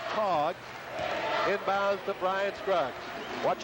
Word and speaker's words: Tage: And Tracy, T-A-G-E, his first name, pronounced Tog, inbounds to Brian Scruggs.